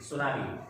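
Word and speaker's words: tsunami: सुनामी आपने lesson में पढ़ा होगा, this word originally of Japan. Japan का है ना। इसको स्पेल कैसे करते, क्या स्पेलिंग है इसकी? TSUN। टी इसमें साइलेंट रहता है, तुम सबको पता ही है ये सब।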